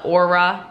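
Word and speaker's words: Oura: have an aura ring a no sorry o u r a is how you spell it aura ring so it's like an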